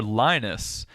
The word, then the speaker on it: Linus: him all the time is it Linus or lonus and he said well actually it's lonus in one country Linus in another and in his home country it's like Unice oh I remember our